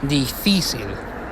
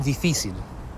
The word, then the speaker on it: difícil: So ella vrouw die school ta distinto y difícil, with the accent on the I. So ella vrouw die school ta distinto y difícil.